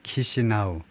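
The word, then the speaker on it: Chișinău: 그다음에 수도는 키시나우. 키시나우라고 발음하네요.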